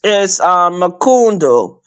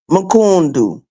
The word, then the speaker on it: mkundu: Yeah, it's Makundu. It's a Swahili phrase, Mrs. V, and it means asshole. It is spelled MKUNDU. Makundu.